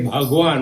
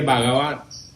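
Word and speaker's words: भगवान: And you know, like sometimes people singing a song and they say, when you have to say Bhagwan, which is God, Yeah. they say Bhagavan.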